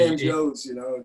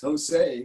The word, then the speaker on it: San Jose: Or it's not San Joe's, it's Jose, one pronounced.